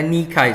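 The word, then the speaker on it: Nike: akan kemenangan saudara jadi Dewi kemenangan Yunani adalah nikainya bacanya nikai saudara sor nama rudal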